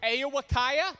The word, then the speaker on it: Ao-Wa-Kiya: out it was a great week uh camp a iwakaya is how you say it for those of